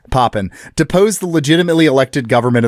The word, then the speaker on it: Papen: On July 20th, 1932, von Pipen uh I'm just gonna keep mispronouncing that. Von Papen Pen, it's Poppin deposed the legitimately elected government of the state